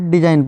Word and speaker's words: design: ठीक है, एन से पहले, तो यहाँ पर डिजाइन पढ़ाएगा, यहाँ पे जी साइलेंट हो गया।